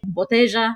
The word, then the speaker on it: botella: So the double L in Spanish is pronounced more like a J here. So you'll hear like calle instead of calle, botella instead of botella.